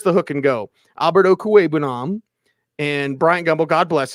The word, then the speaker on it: Okwuegbunam: It's Okwuegbunam. It's not that hard. If I can say it, I mispronounce Rita, for the love of Christ.